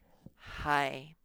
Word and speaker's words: high: Next one is hi. Now that GH is silent.